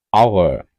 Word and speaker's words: hour: அவர். அவர் என்றால் மணித்தியாலம். HOUR. அவர் மணித்தியாலம். ஆனால் ஹெச் எழுத்து முன்னுக்கு வந்தாலும் அதனை நாங்கள் என்று உச்சரிக்கின்றோம். அவர்.